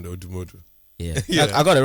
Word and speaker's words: Odumodublvck: Yeah, I like the way you pronounce the name though, Odumodublvck.